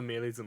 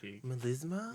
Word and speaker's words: melisma: that by the way it's called a Melisa right oh what how do you say it Melisa melisma yeah maybe yes so you